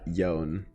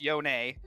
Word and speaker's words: Yone: Yone and not Yown? Yeah. So I think that's just because it's how it's pronounced, right? Like when I first started working on it, I wasn't sure what it was either, and I asked Brad, certainly T, and he's like, oh, it's Yone.